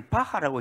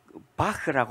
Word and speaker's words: 바흐: 중간에 바타라고 번역을 했습니다. 이거 왜 이렇게 했을까? 이건 우리나라 사람과 일본 사람들이 이해하기 쉽도록 이렇게 바꿔놓은 겁니다. 본래 BACH 이 발음은 하도 아니고 흐도 아니고 비강을 거쳐서 나오는 소리니까 때에 따라서는 크로도 합니다.